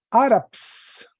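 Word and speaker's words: Ἄραψ: El sustantivo se llama áraps. Áraps trae un espíritu suave y un acento agudo en la primera sílaba.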